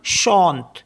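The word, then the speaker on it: chante: word है हमारे पास सी एच ए एन टी ई इसमें भी ई लास्ट में है तो यह भी साइलेंट हो जाएगा तो इसको पढ़ते हम शांत शांत और नेक्स्ट वर्ड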